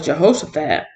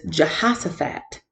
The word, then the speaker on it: Jehoshaphat: Jehoshaphat jaha so Jehoshaphat I've been saying it wrong I thought it was Jehoshaphat but it's Jehoshaphat Jehoshaphat and his name